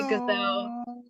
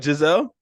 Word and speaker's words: Giselle: I yeah like teachers teachers have mispronounced my name calling me gazelle oh gazelle I'm sorry Giselle I had a professor